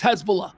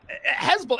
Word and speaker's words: Hezbollah: Uh spent my entire life knowing how to pronounce Hezbollah. It's Hezbollah. Hezbollah. It's been Hezbollah since the 19 fucking7s. Hezbollah. Now all of a sudden we've got fancy reporters calling it Hezbollah. Like it's a different pronunciation now.